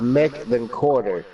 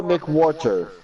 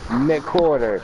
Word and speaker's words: McWhorter: people's names because like my last name is pronounced Mick then Quarter. And everyone always says Joshua McWhorter. It's Mick then Quarter. Put it together. McQuarter.